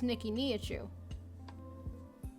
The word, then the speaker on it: Niki Nihachu: nicki minaj because like well it's nikki knee at you it's freaking neat nicki